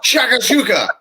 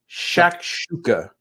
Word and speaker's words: shakshuka: I think it's shakshuka. Shakshuka.